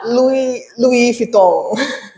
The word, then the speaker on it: Louis Vuitton: Bacanya dong. Louis Vuitton. Ini nggak tahu benar salah, nanti kamu bilang benar salah ya. Louis Vuitton.